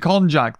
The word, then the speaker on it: konjac: that's it cognac right i thought cognac was alcoholic am i wrong yes uh really lets the pizza juice shine for a sweet and delicate flavor is it okay so konjac sorry i was saying it wrong i meant konjac that's it if you're